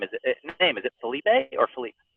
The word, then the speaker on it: Philippe: Is it Felipe or Philippe? It's so there's Philip and there's Felipe, and I'm right in the middle. So in Quebecois, in French Canadian, it's Philippe.